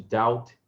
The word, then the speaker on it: doubt: Então, repare que eles têm esse B aqui. Então, para que o inglês tivesse uma forma visual, essas duas palavras do inglês tivessem uma forma visual mais próxima do original latino, eles inseriram esse B, que é mudo, certo?